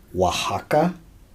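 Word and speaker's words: Oaxaca: is a noise cuz Spanish whenever it's a h noise uses a j not an X so that's weird don't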